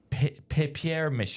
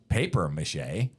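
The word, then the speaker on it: papier-mâché: It's papier mache. It's spelled P-A-P-I-E-R Probably dash French. M-A-C-H-E. So maybe it never was paper mache.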